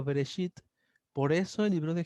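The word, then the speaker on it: בראשית: Entonces la expresión en el principio o en el origen se pronuncia en el hebreo Bereshit.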